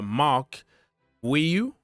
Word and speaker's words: Marc Guiu: 18 million Mark gu so this is another Mark guu okay that is the way it's pronounced so it's not g all right so